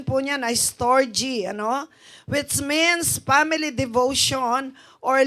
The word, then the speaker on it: storge: Ang pronunciation po niyan ay storge, which means family devotion or love for family, parents, and children.